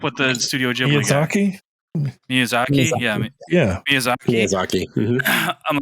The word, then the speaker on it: Miyazaki: Oh my god, I'm gonna say his name wrong. Mizuraki. I always get him mixed up with the Studio Ghibli guy. Miyazaki.